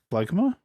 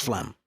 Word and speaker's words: Phlegma: Phlegma? Well, it's pronounced Flem. Why the fuck is there an A at the end of it? Why is there a G?